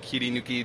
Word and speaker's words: Kirinuki: well as director of our new brand called kirinuki Japan is how you say it uh kirinuki